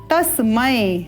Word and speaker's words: तस्मै: ये यहाँ पर भी हम ध्यान देंगे कि जब हम म में अगर ए का स्वर युक्त करें तो क्या उच्चारण होगा? तस्मे। परंतु यहाँ तो ए नहीं, अ का स्वर है, इस प्रकार से तो उच्चारण क्या होगा? तस्मय, उपयुक्त है।